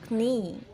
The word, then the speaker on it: knee: fights six taxi now the letter k is silent in a few words egg no knee knight listen and say this